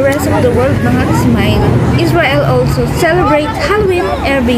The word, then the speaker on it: Samhain: Samhain is a Gaelic word pronounced Samhain.